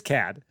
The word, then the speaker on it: Cad: It's Cad. But it's spelled CAD.